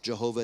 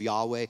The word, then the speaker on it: Yahweh: the idea of Jehovah Jehovah is a mispronunciation of Yahweh don't stop calling him